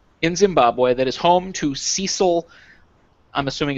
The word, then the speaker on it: Cecil: here with that name who pronounced his name Cecil as opposed to Cecil. So I don't know. Whatever. Doesn't matter. We're going to go with Cecil.